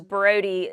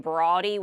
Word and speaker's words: Brodie: There's no A in there between the O and the D, but some people called him Broady. We always refer to him as Brody.